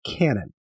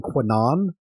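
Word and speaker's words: Kwannon: say excuse for anything this is well it's pronounced Canon Canon and that is the the character that we've all been calling Quan in the regular Universe in the regular gy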